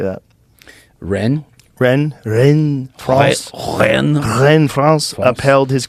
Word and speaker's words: Rennes: Rennes, France.